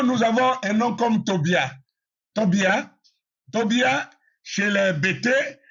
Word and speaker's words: Tobia: Et Tobia ou Tobija donc comme il y a pas de J dans la lettre dans dans la langue hébraïque, c'est Tobia.